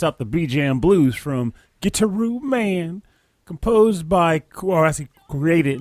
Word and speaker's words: Gitaroo Man: Like it's choreographed so well because in Gitaroo Man, it actually is pronounced Gitaroo Man.